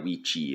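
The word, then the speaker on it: wicce: So it's like Wicha Wichi is how you actually pronounce it in Old Anglo-Saxon.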